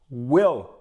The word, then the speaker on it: will: i quando na verdade esse I tem som de i curto para nós parece o